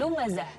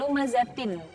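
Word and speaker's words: لُمَزَةٍ: Nah, wailul likulli humazatil lumazatin. Nah, itu kalau bentuk seutuhnya. Tapi kalau di waqaf, maka tak marbutoh ini menjadi ha. Wailul likulli humazatil lumazah.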